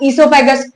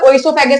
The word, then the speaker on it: oesophagus: जाता है हमारे पास इसोफागस इसको मैंने पहले ही बोला है ओ यहां पे साइलेंट रहता है ओसोफेज नहीं बोलते ठीक है सोफैक सोफैक